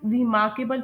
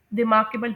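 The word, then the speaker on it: remarkable: इसे कुछ लोग रिमारकेबल प्रोनाउंस कर रहे होते हैं। लेकिन इसे रिमारकेबल प्रोनाउंस करते हैं।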